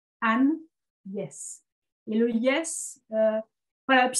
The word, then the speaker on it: Agnès: dans une famille et le prénom Agnès se prononce Agnès en Angleterre et je n'aimais pas du tout cette prononciation-là. Et en fait, le monsieur chez qui j'habitais n'arrivait pas à comprendre comment il pouvait prononcer mon nom. Et un jour, il me dit, yes, of course, Anne, and yes. Anne, yes.